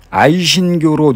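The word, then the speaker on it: 아이신기오로: 아이신교로 누르와치, 애신 강나의 몽골어 발음이 아이신교로입니다.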